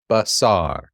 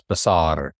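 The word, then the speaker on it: בשר: And this is a S, not a sh, but a S. B. Basar. Roll your R like you do in your Spanish class. Basar.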